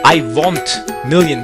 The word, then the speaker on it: IWONTMILLION: want million it is I want million with an O pronounce it in a European style I want million let's